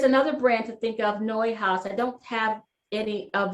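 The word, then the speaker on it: Neuhaus: brand to think of noi house I don't have any of them here with me and I'm sorry for that noise uh it's spelled uh not quite like it sounds but it's a Belgian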